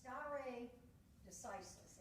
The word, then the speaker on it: stare decisis: It's pronounced stare decisis, and it literally translates, let the decision stand.